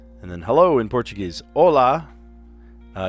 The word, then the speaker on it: hola: Hola. Uh, you would say hola in Spanish, too, but you would add an H, silent H to the beginning.